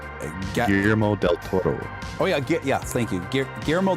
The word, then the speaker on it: Guillermo del Toro: Strain, written and directed by, how do I pronounce that last name? Guillermo del Toro.